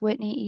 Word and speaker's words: Whitney: It's Whitney, like Whitney Houston, Whitney, and last name Isola, but it's spelled Isola, Isola.